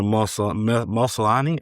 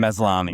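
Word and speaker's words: Maslany: But our first rumor we're going to discuss real quick today is according to She-Hulk star Tatiana Mus Muslani, I can't say her name. Meslani.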